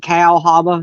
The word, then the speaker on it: Cahaba: Not it's not CAHABA like Cahaba Lilies or Cahaba Heights, which is in Alabama, but this is Cow. It looks like Cow Haba, or whatever.